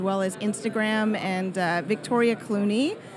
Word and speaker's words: Cluney: as Instagram and Victoria Cluney. Sounds like the actor, but it's spelled C-L-U-N-E-Y.